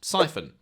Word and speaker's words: Psiphon: Psiphon, pronounced Siphon, is an open source